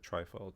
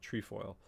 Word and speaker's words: trefoil: it's like an orbit a trefoil sorry I said trifle trefoil so the sun kind